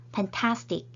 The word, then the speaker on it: fantastic: 이 단어는 3음절로 이루어져 있네요. 그리고 fantastic, 두 번째 음절에 강세가 있는 단어입니다.